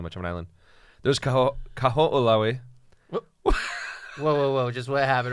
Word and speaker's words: Kaho'olawe: There's Kaho'olawe. Whoa. Just what happened right now? The Wait, say it dude, again? it's Kaho'olawe.